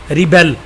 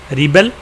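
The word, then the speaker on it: rebel: यहाँ पे जो स्ट्रेस है यहाँ पे आ रहा है, यहाँ पे स्ट्रेस सेकंड पार्ट पे आ रहा है. रिबेल, रीबेल.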